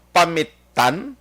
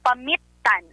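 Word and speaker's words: Pamittan: Ang spelling P-A-M-I-T-T-A-N pero kay Ilocano mag-pronounce action art Pamitan. Gali ka? Amo na siya mag-pronounce. Yes. Pero kung kita lang yata magbasa ta Pamitan Pamitan. Pero kay Ilocano siya may diin kumbaga ang iyang Gusto tayo sakto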